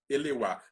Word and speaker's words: Eleuá: Tago, a pronúncia certa é Tago Eleuá? Eleuá.